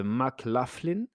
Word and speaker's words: McLaughlin: Le bilan radiographique permettra de mettre en évidence une encoche céphalique antérieure de McLaughlin, laugh comme rire et lin comme alien, voilà.